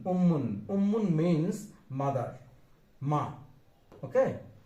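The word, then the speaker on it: أمٌّ: We should say like this: alif mim pesh mim 2 pesh mun, ummun.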